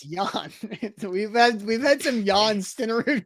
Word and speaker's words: Jan: It's Jan. We've had some Jan Stenerud questions before. It's Jan. The J Jan. is silent. It's a soft J.